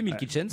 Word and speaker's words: Milky Chance: Un duo allemand maintenant, Milky Chance. Voilà, je le prononce à l'allemand. Oui. Ouais, non. Bon, on peut lire en anglais, Milky Chance.